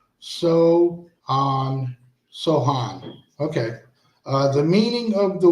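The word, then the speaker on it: Samhain: So, a Celtic region and was named Saman, pronounced Sohan.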